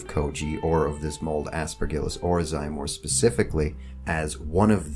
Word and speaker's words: Aspergillus oryzae: Aspergillus oryzae, which I learned today is actually pronounced Aspergillus oryzae. But I'm not going to say it like that because I've been saying Aspergillus oryzae for a long time, and I'd be stumbling all over myself if I tried.